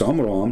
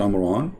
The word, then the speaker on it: Amram: But Imran, even Muhammad, he called the name wrong. It's Amram, not Amran, but idiot, as what you say, is the father of Moses.